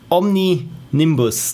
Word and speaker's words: Omninimbus: it was uh omni nimni bus omnibus zero omni nimbus there we go thank you so much this is why i introduced this pronunciation thing there to my questionnaire because uh